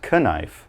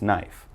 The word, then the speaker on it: knife: cut your vegetables so remember not connive just knife after that another example